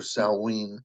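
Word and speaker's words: Samhain: but back to the salwin or Salen uh Gaelic pronunciation uh Salen has been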